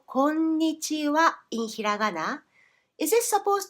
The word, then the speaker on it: こんにちは: こんにちは with ひらがなは even though we pronounce the phrase こんにちは. Why? Because this wa in this particular phrase is a particle.It is the same word that you use when you say something like this.